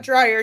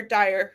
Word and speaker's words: Dyer: It's the earlier, not Dryer, Dyer.